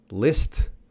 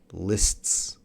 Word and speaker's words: lists: Yeah, anytime you have a consonant, consonant, consonant, that's going to be hard. List, lists, lists.